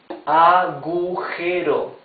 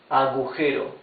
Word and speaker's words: agujero: Agujero. A-G-U-G-E-R-O. Agujero.